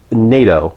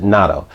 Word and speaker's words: nato: This is NATO, or some might pronounce it natto.